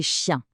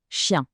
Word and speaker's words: chien: Le premier mot ici est chien ch i n. Le son chi est très doux. Répétez. Chien.